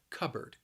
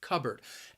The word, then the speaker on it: cupboard: cup and board but you're not going to pronounce that second syllable like board it's just going to be bird cupboard cupboard and if you